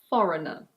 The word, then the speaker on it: foreigner: Similarly, this word in British English is pronounced: foreigner. Foreigner. In American English it's: foreigner. Foreigner.